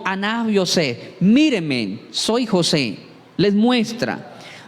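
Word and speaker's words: אני יוסף: Repito, porque en el hebreo se pronuncia, no es yo soy José su hermano, sino Aná José.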